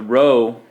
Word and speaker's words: rho: being a row not equal to zero the row is spelled our H oh but it's pronounced row